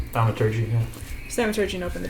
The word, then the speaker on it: Thaumaturgy: Thaumaturgy? Thaumaturgy, yeah.